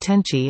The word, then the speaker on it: 天地: These Hanzi are pronounced Tenchi in Japanese.